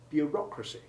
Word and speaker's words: bureaucracy: The syllables have the same sounds in bureaucrat, but when the stress moves from the first to the second syllable in bureaucracy, the formerly long O sound of EAU becomes short. Bureaucracy.